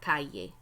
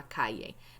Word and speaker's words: calle: And the word for street, right here, la calle. La calle. Now, remember, those double L's are pronounced like Y's, okay? Not like L's.